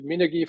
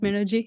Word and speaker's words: Minergie: And therefore, to Minergie, for themselves to set themselves apart, they were also getting stricter and stricter. The rules became harder to achieve. I'm sorry, it's In Minergie, general, not Minergy.